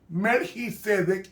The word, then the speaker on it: Melquisedec: Entonces, rey de ciudad, Melquisedec, así que se pronuncia en el hebreo, Melquisedec, igualmente en el griego bíblico.